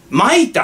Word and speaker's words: 舞田: に達したえ舞田って読むんだってこれ舞田和彦日本